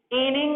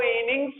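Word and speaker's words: innings: गलत आप बोलते हो, इनिंग नहीं होता है। आप अगर इनिंग बोलते हो तो गलत बोलते हो। ऑलवेज इसका सही प्रोनाउंसिएशन जो होता है वो इनिंग्स होता है, ना कि इनिंग होता है।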